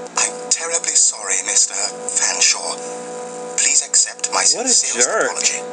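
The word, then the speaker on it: Featherstonehaugh: F, silent E, A, silent T, silent H, silent E, silent R, S, silent T, silent O, N.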